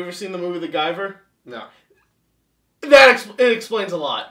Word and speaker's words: Guyver: You mean The Giver? No, it's the G-U... The Guyver. What? It's harder. Oh, all right. I thought you were just pronouncing it wrong. No. The Guyver. You're really hitting that eye real hard.